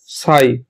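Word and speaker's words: psi: কে এখানে সেটা হচ্ছে সাই এর নাম কি সাই উচ্চারণটাও লিখে রেখে দিই সাই পি এস আই সাই ঠিক আছে সাই কি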